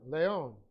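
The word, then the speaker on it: λέων: of the unarthrous noun leon l e long o n leon that should be a long o normally i try to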